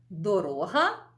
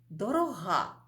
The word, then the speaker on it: дорога: який ми поставимо наголос ось наприклад таке слово як дорога і дорога ще одне слово дорога